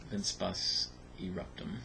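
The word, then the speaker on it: Vincebus Eruptum: Was it Vince Bus Eruptium? Is that what it is? I always forget what it is. Vince Bus Eruptum.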